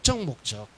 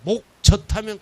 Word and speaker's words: 목적: 목적. 발음 잘해야 돼요. 목젖하면 큰일 나요. 목적이야, 목적.